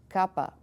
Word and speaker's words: Kappa: is you're looking at this is Kappa same thing we have like KITT next lambda capital let's